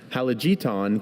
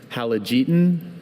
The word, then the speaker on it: halogeton: Halogeton contains toxic amounts of sodium oxalate, a caustic chemical. Can you please repeat both the pronunciations 3 times? Sure. Halogeton, halogeton, halogeton, halogeton, halogeton, halogeton.